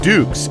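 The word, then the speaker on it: Dux: though which spelled duux the last name is pronounced Dukes as in put up your dukes an actual quote from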